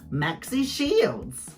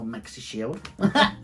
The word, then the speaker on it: Maxi Shield: Or Maxi Shield. I love how you say it differently. Rue's been saying it Maxi Shield. And I find it really weird her putting the emphasis on the Maxi, because then that's literally what it is.